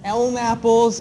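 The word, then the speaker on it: LNAPL: dissolved in the water they're called L napples and D napples that's how you kind of pronounce the abbreviation elpp stands for light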